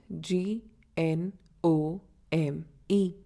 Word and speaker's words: gnome: G is silent when it comes before N.